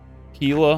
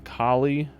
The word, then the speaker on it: Kila: them or what like oh whoa whoa whoa Kila I mean right Kila I've been saying it wrong kie Kila is the island